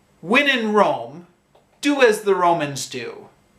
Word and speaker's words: Rome: I know in many languages it's pronounced Roma, but in English it's pronounced Rome.